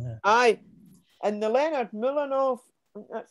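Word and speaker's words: Mlodinow: Aye, and the Leonard Milanov, that's how you pronounce it, book, you know, about Feynman, Sometime with Feynman.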